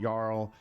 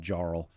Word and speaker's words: Jarl: the Fro Glacier Rift Frost Giant Yarl. I always mispronounced him and call him Jarl.